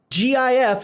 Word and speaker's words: GIF: pronounce it GIF, because by all English rules, GIF is GIF. It's GIF because of how you say it in 3 letters, and it's GIF because the first letter is graphic. It's a hard G.